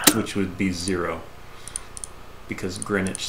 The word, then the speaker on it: Greenwich: would be zero because greenwich sounds very english sounds like a very sure greenwich is not actually in yeah greenwich where is is the fact that it has a silent w it is i think